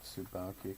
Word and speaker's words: Tsubaki: But You said Tsubaki correctly. yeah, it's not that difficult. You even get the T in there.